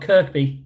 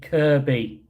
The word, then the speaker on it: Kirby: Not Kirkby, Kirby.